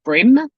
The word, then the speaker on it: Bream: are off to the brim creek farmers market brim is spelt like cream with a bee but it's like the fish it's pronounced brim hi geraldine happy new